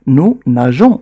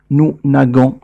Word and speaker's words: nageons: طبعا نريد نحن أن ننطق الفعل nous nageons وليس nous nagons، لكن الكلمة التي أمامنا